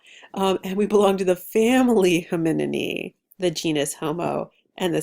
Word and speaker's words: Hominidae: mistake earlier yeah we belong to the family Hominidae the genus Homo and the species sapiens Homo